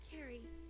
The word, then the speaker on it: Carrie: It's pronounced Carrie, like a K. Okay, Carrie.